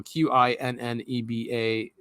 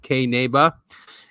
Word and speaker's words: Qinneba: Yes, Kineba, it's spelled Qinneba. It's a weird spelling because it's ancient Aramaic and it means hemp in Aramaic. So Qinneba. It's also pronounced Kneba, and it is a legal hemp marketplace.